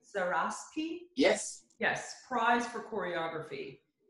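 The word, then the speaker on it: Zaraspe: The Hector, is this how you say the name, Zaraski?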